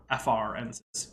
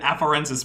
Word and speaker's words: afarensis: Afarensis, E-N-S.